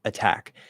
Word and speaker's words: attack: an unstressed syllable, okay, if it's at the start of a stressed syllable, it will not change into a D. Okay. So if I say, it's a good example here. Oh, attack. Okay, attack.